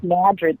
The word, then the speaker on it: Madrid: and very quaint and uh it's called Madrid pronounced Madrid spelled like Madrid and it it's a very